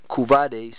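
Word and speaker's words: couvade: linked to atum okay kuade c o u v a d e if I'm pronouncing it right a custom In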